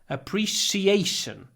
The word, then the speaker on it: appreciation: their appreciation appreciation appreciation here we don't do the big because the stress is on a appreciate so it's only on the stressed syllables we do the big prince princess pretty proper Etc but here appreciation stress on a appreciation okay number 22av don't